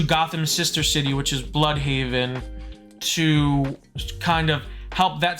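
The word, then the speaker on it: Blüdhaven: is Dick Grayson AKA Nightwing never heard of bloodhaven I know you've you've told me a lot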